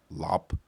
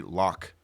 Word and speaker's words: Loc: I mean, now like I'm growing up, I like my Asian name better, which is actually pronounced Lop. Oh, But people used to say Loc or Loc, and I used to hate it.